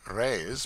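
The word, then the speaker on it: réis: from the Portuguese pennies or Rays pronounced rays are prodigious it takes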